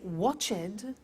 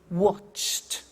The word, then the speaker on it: watched: the pronunciation becomes T we don't say watch it we eliminate the e and we say watched okay interesting hey so